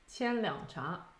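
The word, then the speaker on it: 千两茶: Can you give us the right tones? Qianliang Cha. So there's the right tones for Qianliang Cha, but I also saw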